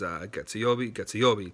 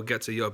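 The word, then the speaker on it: 月曜日: So you can't just say, oh, getsuyobi. You got to say getsuyobi, raise it, right?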